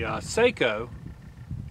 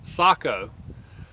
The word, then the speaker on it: Sako: Rifle right here and this rifle is a SEO or I'm sorry I think it's pronounced Sako uh fin light and uh this is really